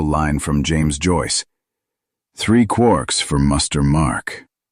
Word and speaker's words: quark: Three quarks for muster mark. While the word was meant to be pronounced like quart, it is more commonly made to rhyme with lark.